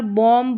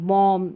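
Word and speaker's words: bomb: Next है, जब किसी वर्ड में एम के तुरंत बाद बी आए तब बी का उच्चारण नहीं होता, बी साइलेंट रहता है। एम के बाद बी आए तो इस बी का नहीं होता है।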